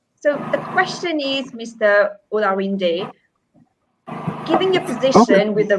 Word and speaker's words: Olarinde: Well, I will tell you the pronunciation of my name is Olarinde. So it's syllabic, as it is called, Olarinde.